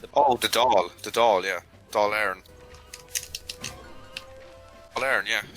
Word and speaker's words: Dáil Éireann: Oh, the Dáil, yeah, Dáil Éireann. Dáil Éireann, yeah, Dáil Éireann.